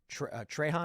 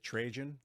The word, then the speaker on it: Trajan: Trajan, how do you pronounce that? Yeah, Trajan. Trajan. That was an empire.